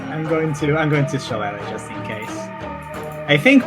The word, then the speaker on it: shillelagh: Shillelagh. Shillelagh, yeah.